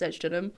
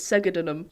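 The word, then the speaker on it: Segedunum: And basically, the only new thing that we learnt was that it's not actually pronounced sedulum; it's segadunum. Segadunum. Yep.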